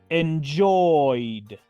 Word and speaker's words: enjoyed: dice en pasado simple enjoyed enjoyed pronuncio entonces la terminación Ed como la letra d así de fácil sin pronunciar la letra e la e es muda